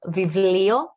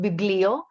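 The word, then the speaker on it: βιβλίο: india's the sun and the last one which is vivilio and not biglio because in greek this one is a v and not a b so uh basically for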